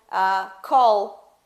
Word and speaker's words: call: Só que no inglês não dá pra gente fazer dessa forma, porque quando o som do L ele está naquela palavra, ele precisa ser pronunciado. Por exemplo, call. Oh, could you call me tomorrow?